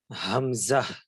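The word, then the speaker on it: همزة: wow Hamza ইয়া জি হামজাটা হামজাহ হামজাহ এভাবে একটু উচ্চারণ করতে পারেন হামজাহ জি এটা যেহেতু মানে একদম হলকের শুরু থেকে একটু জোর দিয়ে হামজাহ মানে হলকের শুরুর যে আমাদের ফোকাল কর্নের যে শুরু অংশটা সেটা যাতে একটু ভাইব্রেট করে হ্যাঁ হামজাহ এবং হা এই শুরু থেকে উচ্চারিত হবে এরপরে নাজমুস সাদাত ভাই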